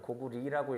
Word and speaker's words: 고구려: 예, 고구려 누구 왕 때? 예, 광개토. 예. 뭐 이제 역사하는 사람으로서 고구려보다는 고구리라고 읽어야 되는 게 원래 맞기는 한데, 네, 그건 뭐 중요하지 않아요.